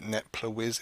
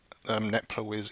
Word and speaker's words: netplwiz: called, I believe you pronounce it something like Netplwiz. It's spelled N-E-T-P-L-W-I-Z.